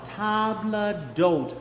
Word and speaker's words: table d'hôte: Men in the midst of a table d'hôte herd. Table, so it's going to be very French. Table d'hôte. Okay? The H is not pronounced, and it's like table, like we would say en français.